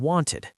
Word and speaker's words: wanted: And that ed has three sounds. T as in walked, d as in played, and id as in wanted.